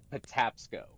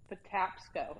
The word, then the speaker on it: Patapsco: Yeah, Patapsco. How do you say it? Patapsco. Patapsco.